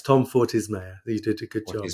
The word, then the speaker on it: Fortes Mayer: say it again if I got the last name wrong uh it's by it's Tom fordy's mayor you did a good job and I'm really